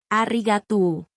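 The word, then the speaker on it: ありがとう: Arigato se dice más suave, casi como un suspiro. Arriatú, mucho mejor.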